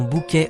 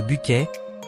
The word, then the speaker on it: Bucket: Yassin, une femme obsédée par le statut social, insistant pour que l'on prononce son nom bouquet au lieu de Bquet, est devenue une véritable